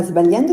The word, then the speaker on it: sbagliando: Remember that the letters GLI together in Italian are pronounced Y.